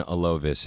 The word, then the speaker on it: Alovis: here with oh boy I'm G to mispronounce the name again introduce yourself how are you my name is alovis how are you all Alo alovis okay that's